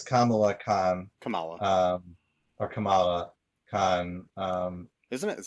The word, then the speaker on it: Kamala: KH Kamala um or Kamala KH um isn't it is that a Kamala Khan yeah because it's not like the it's not like the vice president it's pronounced different no yeah that's they